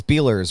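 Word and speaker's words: Beiler's: like little shops and I always say the name wrong it's beeler's right beeler's Donuts is there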